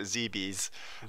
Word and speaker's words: Zebes: Zebes? Who knows? Who knows? Yeah, exactly. So Greg Leahy pronounces it. He pronounces it Zebes. Man, Zebes. Yeah, Zebes.